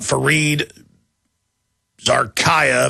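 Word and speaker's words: Fareed Zakaria: We've got a CNN host coming out, Fareed Zarkaya, that's how you pronounce it.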